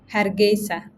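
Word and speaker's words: Hargeisa: So tell me about growing up in please pronounce the name of your town again. Aa Hargesa.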